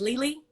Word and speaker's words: Lili: But ultimately, and you said your name is pronounced Lili?